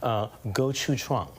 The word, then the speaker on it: gochujang: special sauce, and let's see if I can pronounce it correctly. I'm not Korean, so I'm going to give it a try. Gochujang.